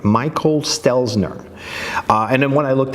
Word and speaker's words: Stelzner: look it up okay so I just hook it up it's Michael Stelzner I don't know why I never get his name right Michael Stelzner and then when I